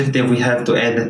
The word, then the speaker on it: ح: This may be confusing to you, but ha is different from he. Ha is deeper than he. It's guttural from the throat. So imagine pronouncing he with the air coming out of your mouth, but you have to cut it.